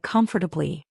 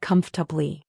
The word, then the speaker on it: comfortable: Many students pronounce it with four syllables, like comfortably. But most native speakers pronounce it with only three syllables, more like comfortably.